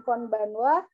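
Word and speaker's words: こんばんは: gitu seperti itu jadi Konnichiwa dan conbanwa hanya dibaca Wayah konichiwa itu Selamat siang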